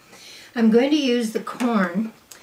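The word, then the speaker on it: Quorn: you our boots I'm going to use the corn q r n it's how it's pronounced vegetarian chicken breast chicken cutlets they call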